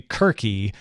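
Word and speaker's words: Circe: who are like well the proper pronunciation if you're gonna pronounce it like we think the ancient Greeks did would be querque but no one does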